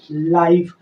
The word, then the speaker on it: life: लाइफ। आप बोलेंगे ई कहाँ गया? तो ई का उच्चारण नहीं होता है।